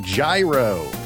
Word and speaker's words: gyro: I don't care where it's from or who made it, it's pronounced gyro.